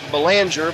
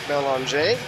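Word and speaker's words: Belanger: It's looks like Banger but it has a French pronunciation. B E L A N G E R Belon.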